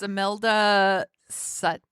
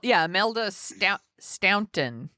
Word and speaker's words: Imelda Staunton: It's Imelda Sutton. Is that how you pronounce it? Imelda Staunton.